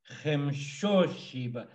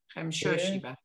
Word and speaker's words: Khemshoshiba: The accent is on the O. Arposhiba. Khoshiba. Tloshiba. Troshiba. Khoshiba. Khemshoshiba. So the accent's always on the O. Khemshoshiba.